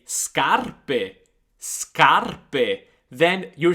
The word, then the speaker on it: scarpe: di scutere scale scale scarpe scarpe let's talk for a second about the word scarpe shoes now as you can hear scarpe is a heart sound because we have sc plus a but if you get